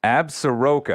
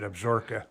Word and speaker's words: Absaroka: new ammunition manufacturing company absaroka i usually say that mispronounced that did i pronounce that correctly this time around pronounce it absorka absorka a valley ammunition